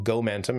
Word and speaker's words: gomentum: So, gomentum is what I call gomentum and I love the mentum aspect of this and rhyming with momentum, so this is my own kind of creation.